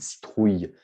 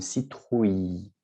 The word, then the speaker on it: citrouille: d'accord dont bien sûr on utilise beaucoup de citrouilles pour halloween mais attention aussi avec la prononciation ici on prononce à l'eau ni une citrouille on ne prononce pas le elle d'accord on